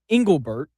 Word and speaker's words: Engelbert: All right, let's let's start let's start with the the commissioner and Cat Cathy Engelbert, that's that's how you pronounce it.